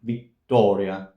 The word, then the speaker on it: Vittoria: speaker, native English speaker, remember that the English t is more towards the back of the mouth, slightly more towards the back of the mouth, whereas the Italian t, it's very front. So it's not Vittoria, Vittoria, Vittoria.